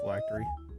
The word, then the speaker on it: phylactery: The eels are probably the phylactery.